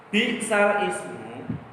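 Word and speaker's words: بئس الاسم: Bi'sal ismu, kalau secara membacanya ya bi'salismu gitu ya, karena hurufnya mati bertemu mati tidak bisa dibaca, jadi bi'salis, bukan bi'salis.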